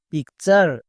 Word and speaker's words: পিকচার: এর জন্য চার উচ্চারণ হয়। চার বসিয়ে দিতে হবে। যেমন পি আই C pick P ইউ আরই চার পিকচার। এরকম করে উচ্চারণ করতে হবে। এরকম করে যদি উচ্চারণ করতে পারো তাহলে এক পারসেন্টও ভুল হওয়ার চান্স থাকবে না।